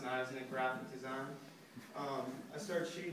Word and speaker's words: Niznik: Pronounced Niznik graphic design.